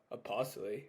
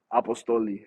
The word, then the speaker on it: Apostoli: did you come up with your name uh apostly am I saying it right apostoli so that's actually like just my name like